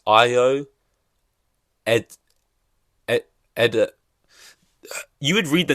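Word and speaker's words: Ayo: Like Jeremy Allen White, Ao. Wait, no, it's Io.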